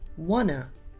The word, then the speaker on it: wanna: Instead of asking, want to buy one, the words want and to flow into each other. So the T sound at the end of want and at the beginning of to are silent. So all we hear is wanna.